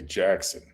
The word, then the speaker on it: Jackson Hole: Or as the locals As the locals say, Jackson. Oh, they don't They drop the word hole? They No hole.